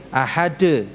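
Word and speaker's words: أحد: Jadi jangan diucapkan seperti huruf D, ahad, nah, ahad, ya, ahad.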